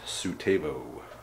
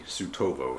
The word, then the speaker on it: Suetovo: supply based proper in the little town of sutabo i guess the more proper pronunciation would be tsutovo so either way this